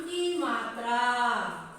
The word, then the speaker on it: कम: Next, का को अन की मात्रा, अन की मात्रा नहीं बोलते उसे, सिर्फ बिंदु अनुस्वार बोलते हैं। का को अन की मात्रा मिलाने से कम। क्या बोल के इसे उच्चारण करना चाहिए?